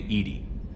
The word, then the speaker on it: EDI: Why are you named Edy? EDI is the phonetic pronunciation of EDI.